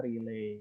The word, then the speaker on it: relay: tulisannya seperti itu tapi kita bacanya relay ya.